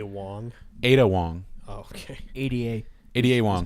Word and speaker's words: Ada Wong: because we started to play it in Andrew's a Wong and I am this insulated character with a helmet a Wong ad Wong okay Ada Ada Wong that's how you spell it yeah um and